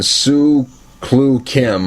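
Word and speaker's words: Soo Chul Kim: to get there you're fighting former 1fc Champion Sue clue Kim I hope that's how you say his name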